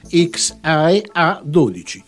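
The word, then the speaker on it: X Æ A-12: paragonato extra SH 12 ovvero pronunciando in italiano xia A12 il nome di un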